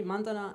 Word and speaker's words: Mandana: I know it's hard to pronounce, like it's on the stress on the first A, Mandana and.